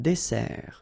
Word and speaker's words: dessert: So, remember that we've got here two S. Okay? That's the reason why you pronounce it S. And then it opens the dessert. Un dessert. So, you don't say un dessert. Okay? But you say un dessert. Final T not pronounced.